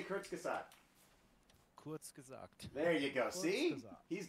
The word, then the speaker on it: Kurzgesagt: Kurzgesagt.